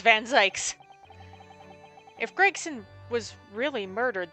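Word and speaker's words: Van Zieks: Um, because we know that our that Vanzy is innocent. I know last time it was like Vanz. I'm not pronouncing it Vanz. Fight me. It's Van Zikes.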